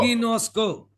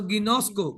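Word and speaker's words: γινώσκω: Ginosco. It is pronounced as English. Every letter is pronounced as English letter. So Ginosco, Ginosco, Ginosco.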